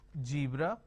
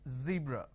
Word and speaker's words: zebra: is Zoo disown Breeze now this is a z sound for example zebra for example Zone for example zeal okay now what people